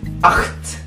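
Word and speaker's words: acht: itu ak akt ada t di belakangnya jadi akt jadi Ko Jadi oke angka 9 itu Noin Noin ada EU di situ Jadi dibacanya o i Noin betul angka 10 itu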